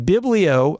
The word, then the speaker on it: biblio: Now, this was 12 years ago, and biblio obviously rhymes with paleo, but the idea is biblio means the book.